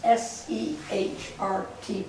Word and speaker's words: Sehrt: Welcome to the Augusta History Museum, also known as the Sehrt House, S-E-H-R-T, pronounced Sehrt.